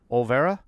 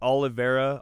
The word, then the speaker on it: Olvera: We're sitting here today with Reno and Angela Olvera. Yep. Am I ever pronouncing that right? I was pronouncing it perfect. Okay. Do you get a lot of mispronunciations? Yeah, there's Olivera, Oliver.